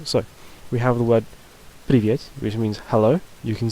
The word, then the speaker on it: привет: And if there's a second yeah vowel in the word, or just in the second syllable, then it'll have sort of a small amount of stress on it, like привет, привет. So you can just about hear it.